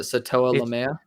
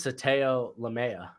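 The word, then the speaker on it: Sataoa Laumea: so hard with it was it SATA lamea no it's just Sato lamea it's so easy but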